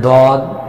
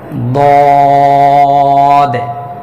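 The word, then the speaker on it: ضاد: যেমন বলবে যে দদ জিহ্বার, অর্থাৎ জিহ্বার গোড়ার কিনারা উপরে মাড়ির দাঁতের গোড়ার সঙ্গে লাগিয়ে 4 আলিফ পরিমাণ টেনে উচ্চারণ করতে হবে মোটা আওয়াজে। দদে দদে দদে, এভাবে দদ হরফের নামের মশক কমপক্ষে 100 বার।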